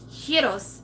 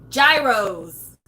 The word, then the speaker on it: gyros: you're typing it but heroes I think is how you say it in Greek if you're a pagan American like myself it is gyros which I you know America has its own rules so the next bag